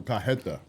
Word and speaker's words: cajeta: This is cajeta. Cajeta. So we were saying it wrong.